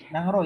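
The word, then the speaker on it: Nanggroe: Nangro ya, dibacanya Nangro.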